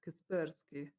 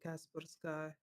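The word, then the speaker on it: Kaspersky: __ ] my kasperski so Google translator pronounce it as kasperski that's how it is that sounds good man I don't know over here they they call it Casper sky but I guess the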